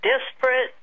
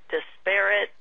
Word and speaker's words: disparate: and I find that I tend to even pronounce it a couple of different ways so desperate desparate tomato tomato that's the focus of of